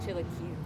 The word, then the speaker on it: chilaquiles: I said it wrong when I said it. She was like, laughed at me. She was like, almost got it. So is it chilaquiles? Yeah, it's like chilaquiles.